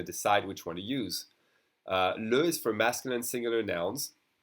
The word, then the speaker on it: le: We have a bunch of two-letter words, and the E in second position is going to be pronounced E, as in le. But when there's an S, it's always going to be pronounced E, as in les.